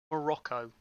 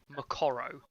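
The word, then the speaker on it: Moqorro: baron black tied and morocco as he's pronounced here which is not his name if you actually go and check it up on in the songwriting fire law as you'll know it's actually macoro so yes uh they're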